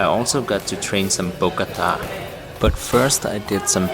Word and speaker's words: Bokator: The proper way to pronounce Bokator, it's Bokator or something? Bokator.